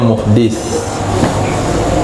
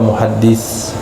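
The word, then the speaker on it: muhdits: Imam karena imamnya muhdit Bacanya muhdis jangan sampai baca muhaddis Nah kalau imamnya muhaddis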